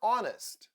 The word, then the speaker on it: honest: ancient words for instance in words like our honor or honest the letter H is not pronounced in many words where